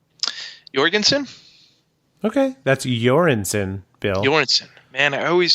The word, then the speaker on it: Göransson: my bad yours alright everyone says Jorgensen the only reason that I say you're Anson is because he told me that and if that is